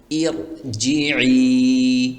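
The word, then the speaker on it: ارجعي: এখানে এই শব্দটির উচ্চারণ হবে এভাবে, খেয়াল করুন, ইর জি, এভাবে। এই আলিফের নিচে জের দিয়ে বা কাসরা দিয়ে পড়তে হবে।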